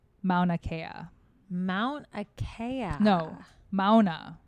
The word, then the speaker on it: Mauna Kea: peak of an island on earth it's called mauna kea mount akaya no mauna like i don't know